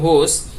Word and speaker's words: whose: আরেকটি আছে যেমন হোস, WHOSE, হোস শব্দটা হচ্ছে কার, এই হোস ক্ষেত্রে এইচটা উচ্চারিত হবে।